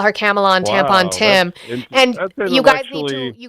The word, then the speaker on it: Kamala: Her name is Kamala.